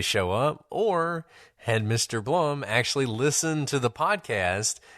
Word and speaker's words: Blum: Well, it didn't take long for the police to realize that Rick Blum, who also pronounces his name Rick Bloom, he can't even decide how to pronounce his name, was not actually his name.